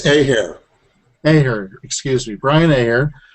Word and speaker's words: Ahier: But, right, it's Ahier.